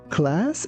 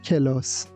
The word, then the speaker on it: class: Here be careful that we don't say kelos. We say class.